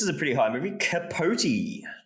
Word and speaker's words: Capote: Capote, not pronounced Capote.